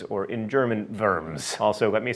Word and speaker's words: Worms: Emperor Charles V at the imperial diet of Worms, or in German, Worms.